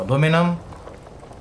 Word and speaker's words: aluminum: It's with an I, okay? Aluminium. Aluminium. Aluminium. Aluminum. Whatever. I guess different pronunciation depending on the part of the world that you are in.